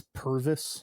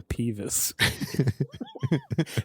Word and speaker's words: Purvis: His name is get it right. His name is Purvis. Purvis, my mistake. I was going to say Peevis.